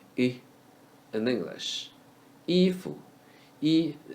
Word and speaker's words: 衣: Ifu, E is the English letter E in the first tone.